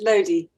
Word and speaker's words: Lodi: hope you'll correct me it's loudy close it's lodi lodi okay lodi thank you